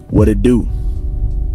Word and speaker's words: What it do: The pronunciation would be what it do. Remember, Sometimes in the American accent, the T itself is flapped around into a D.